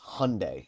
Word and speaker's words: Hyundai: I think it's actually pronounced Hyundai, even though it looks like Hyundai, it's Hyundai. There's But a it is Hyundai.